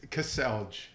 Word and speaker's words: Kaselj: name there you go how do you say your name it's Cassel Cassel that's the English way of saying it Cassel one syllable just you see all the letters Cassel that's not one syllable Cassel that's not one syllable that's two c okay two syllables okay I learned something new today C okay two syllables to say all the letters there you go so